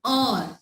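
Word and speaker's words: hour: So here H is silent and it gave us a vowel sound or.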